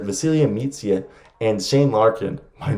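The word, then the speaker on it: Vasilije Micić: celia meets you i had a subscriber tell me that's how you correctly pronounce it vasilia meets yet and shane larkin might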